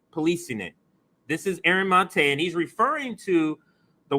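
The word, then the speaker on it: Maté: I know I always say Mate, but when he was on the show, he said Mate. So I'm going to say it like that now.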